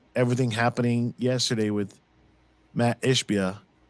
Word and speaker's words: Ishbia: yesterday with Matt ishbia which needs to learn how to say his name ishibia that's what he calls him oh wow I'm like watching the show behind me but it's sort of like dude you're saying it wrong you're saying it